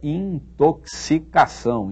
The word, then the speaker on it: intoxicação: pronuncia muito bem aí uma palavra que muita gente não sabe pronunciar não muita gente pronuncia mal a palavra é intoxicação em toxic karen topsy cargo e por aí vai é assim que se diz isso não é em todo